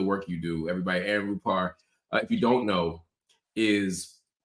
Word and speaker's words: Rupar: Do you pronounce it Rupar or Rupar? Rupar.